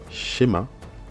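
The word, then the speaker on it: שְׁמַע: On a le Sheva ici. Les deux points, c'est le Sheva. On a dit que lorsqu'il est en début de mot, il se lit.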